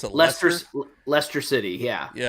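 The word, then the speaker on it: Leicester: Buster Douglas is a horrible said it's called like Lester. Do they pronounce it? Lester Lester City.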